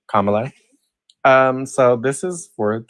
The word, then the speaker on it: Kamala: likey Kamala sorry I I've been pronouncing her name wrong for the longest time thank you for correcting me Kamala um so this is